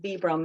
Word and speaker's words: Vibram: fit to partner with Vibram sometimes people pronounce it vibrom it's either way is right um but there's only